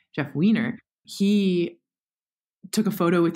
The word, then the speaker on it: Weiner: photo come out was jeff winer actually is that how you say it by the way or is it wiener weiner it's weiner okay jeff weiner he took a photo